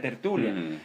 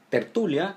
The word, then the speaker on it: tertulia: Que además, tertulia tiene acento en la U.